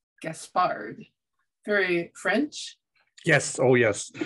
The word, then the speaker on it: Gaspard: You pronounced it one of the two ways that is acceptable. My wife is more persistent about and Gaspard, but I've always had Gaspard. So I answer to either one.